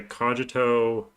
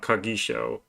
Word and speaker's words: cogito: But I think some people say cogito, cogito. It's not Kagisho, as I originally thought it was.